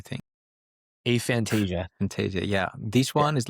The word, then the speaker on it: aphantasia: Aphantasia? No, that's too Greek, the way that I said it, I think. Aphantasia. Aphantasia, yeah.